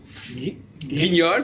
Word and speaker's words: Guignol: Guignol, par exemple, guignol. Guignol, oui. Eh ben, c'est U-G-U, on ne prononce pas le U.